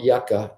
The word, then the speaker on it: Yuka: It's called Yucca. It's spelled Yuka.